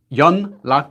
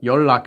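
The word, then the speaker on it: 연락: curious where your luck young luck is how you spell it but your luck is how you say it your luck on this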